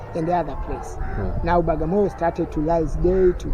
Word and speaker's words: Bagamoyo: That's why they say it's Bwaga. So we say Bwagamoyo because of different language. But today we call it this is Bagamoyo town because Arabic people they fail to pronounce the word Bwaga.